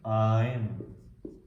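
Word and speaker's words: Ein: How to pronounce? Ayn.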